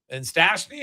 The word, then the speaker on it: Stastny: And then you get another young guy in Stastny, and who knows? Is that Peter Stastny's kid? No, he's American. It's spelled different, but Okay. it's just pronounced the same.